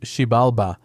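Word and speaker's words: Xibalba: In this text, the underworld or hell is called Sibalba, pronounced Sheibbalba, which literally means place of fear. Shibalba is a kingdom of darkness located far below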